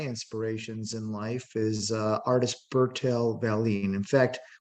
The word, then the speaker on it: Bertil: in life is artist Bertil Vallien. In fact, when you go to Sweden, they say Bertil because that's how they pronounce Bertil.